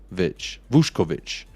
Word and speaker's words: Vušković: It says it's pronounced Vušković.